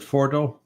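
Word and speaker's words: Fordow: Is that how you pronounce it? Fordo.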